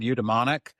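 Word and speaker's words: eudaemonic: and the um I've only ever read this word udemonic. Am I pronouncing it correctly? Yeah, you got it right.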